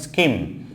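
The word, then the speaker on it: scheme: দেন হচ্ছে স্কিম, এখানে যেমন এইচের উচ্চারণই থাকছে না, স্কিম, স্কিম, স্কিম মানে প্রজেক্ট, স্কিম, স্কিম।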